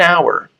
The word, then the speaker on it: hour: No entanto, esse H é mudo. Tá? Então, hour é uma das 4 palavrinhas que tem o H mudo.